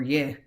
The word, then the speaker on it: ये: The third pronoun is ye, and it is pronounced exactly how it's spelled.